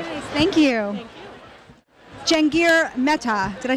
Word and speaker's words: Jahangir Mehta: Jahangir Mehta. Did I say it right? Jahangir Mehta.